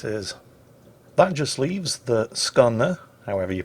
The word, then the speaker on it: Skåne: The friendly Skåne, which apparently is the correct way to pronounce the name of the Swedish Tier 7